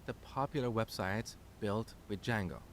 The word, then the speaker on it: Django: very popular framework called Django so it's spelled with a silent D and it's pronounced Django it's a web framework